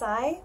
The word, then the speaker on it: Sai: you to bina Patel Tsai Beauty pronounced eye beauty and this beautiful beautiful